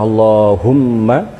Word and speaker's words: Allahumma: empat yang pertama adalah Allah wajib dibaca panjang Kemudian yang kedua adalah Allahumma Allahumma hanya tidak boleh dibaca panjang wajib dibaca pendek kemudian